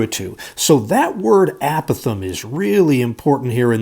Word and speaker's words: apothem: goofy word here, guys, called an apothem or apothem. I've heard geometry teachers pronounce that both ways there. Either one of them would be fine. I generally say apothem.